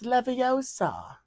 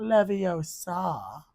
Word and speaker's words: Leviosa: yeah we'll fix that it's Leviosa not levosa yeah herione Heron that's